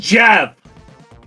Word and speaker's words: GIF: No, Jeff. it's pronounced Jeff.